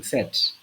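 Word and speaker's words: sept: see that we pronouncing set the t is pronounced whe the t is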